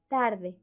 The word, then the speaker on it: tarde: In English, they are pronounced with the tongue against the teeth, but in Spanish, it's with the tongue against the alveolar ridge. You will say today, we say tarde. Can you notice the difference?